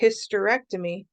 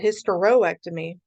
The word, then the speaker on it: hysterectomy: in a vowel so if I say hysterectomy I drop the combining o because if I just said hysteroectomy it's like an extra syllable it's too much it's too extra we don't need that